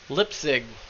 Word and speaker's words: Lipzig: And in white, Mitch Lipzig. Which I was informed is the correct pronunciation, despite Tyler laughing at me for it.